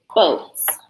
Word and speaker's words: boats: I want you to find the word boats here on page 10. What's tricky about it? What do you notice? The A is silent.